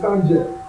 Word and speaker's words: Sanjay: My name is Sanjay. Sanjay. Can we spell that for me?